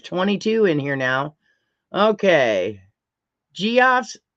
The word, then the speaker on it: Geoff: Geoff's, I pronounce it Geoff.